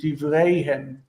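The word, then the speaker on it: דבריהם: He also was saying ragleihem and divreihem. But the stress is on these heavy endings is on the end of the word. Ragleihem, divreihem.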